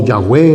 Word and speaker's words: Yahvé: que le queramos pronunciar, porque al fin y al cabo ni siquiera sabemos cómo es que se pronuncia ese nombre. Pero es más o menos así. Yo creo que la palabra más cercana que pudiéramos conseguir es Yahvé.